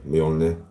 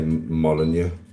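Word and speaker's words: Mjölnir: That's how it's said, by the way. Molir. A lot of people say mon which I used to say to because it's easy for some people to say it's actually mir.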